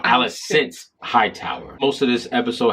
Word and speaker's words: Alicent: Okay, sorry, we've been saying her name wrong. Alicent Hightower.